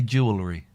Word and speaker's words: jewelry: to Wales on Tuesday I like the way you say jewelry because you say Jewel you say the jewel part of jewelry which is the and then you say the AR which is the correct way to say it and people don't it's